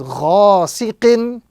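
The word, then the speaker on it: غاسقين: So the first example here we have ghain alif fatha gha. Sin kasra si. And qaf tanwin kasra qin. So this word will be pronounced with focus on the first letter or prolongation on the first letter because of the alif madda. So the proper pronunciation is ghasiqin with prolongation on the first letter. Ghasiqin.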